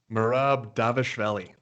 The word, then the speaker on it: Merab Dvalishvili: How do you pronounce his name? Merab Dvalishvili.